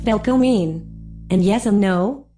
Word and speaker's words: velkomin: However, Icelanders do appreciate foreigners learning a few useful phrases while visiting, including hello, pronounced hallo, welcome, pronounced velkomin, and yes and no, pronounced ja and nay respectively.